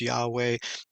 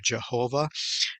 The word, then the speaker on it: Yahweh: this um word uh some people are maybe 90% sure it's Yahweh when the King James version was written they thought it was yehovah or Jehovah and so the truth is no one really knows how to pronounce it and so the